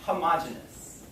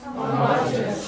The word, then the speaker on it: homogeneous: repeat after me homogeneous homogenous homogeneous homogenous oh there's two pronunciations some people say homogeneous and they will spell it with an extra e here so you will see